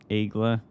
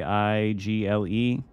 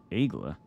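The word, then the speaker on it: Aigle: I can tell you it's not igle people pronounce it that way but that is definitely not how it's pronounced hopefully team can hurt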